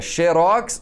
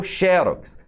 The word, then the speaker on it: xérox: projetil ou projétil é xerox ou xérox essas três aqui são